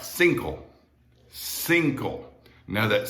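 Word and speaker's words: cinco: a little different and that c there for the number five single it's pronounced like a th in bath think all single all right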